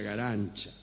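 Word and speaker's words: Garanča: elina gancha eh se escribe garanca pero se pronuncia para su desgracia garan cha es muy feo no s acá sí bien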